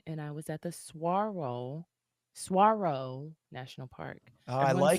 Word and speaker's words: Saguaro: It's not Sagaro, it's Saguaro because that's what it looks like. But it does look like Sugaru.